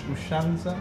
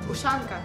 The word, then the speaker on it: Ushanka: Ushanza? Ushanka.